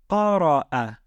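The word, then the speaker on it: قرأ: How do we pronounce this word? It would be qara'a, qara'a.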